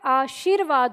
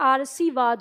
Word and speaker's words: आशीर्वाद: तो यानी जब हम इसका उच्चारण करेंगे तो इस व के आगे इसका उच्चारण करेंगे। इसलिए ये आशीर्वाद होता है। अगर हमने यहां पर र लगाया तो यह आरसीवाद हो जाता है इसका उच्चारण इसलिए गलत हो जाता है।